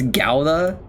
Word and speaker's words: Gouda: Like the day that you told me it wasn't pronounced GA, it's Gauda.